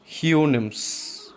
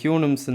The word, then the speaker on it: Houyhnhnms: ஹியூனிம்ஸ். HOUYHNHNMS. அது ஹியூனிம்ஸ்ன்னு தான் pronounce பண்ணணும்.